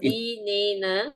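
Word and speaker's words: dinnena: But now there are two N's.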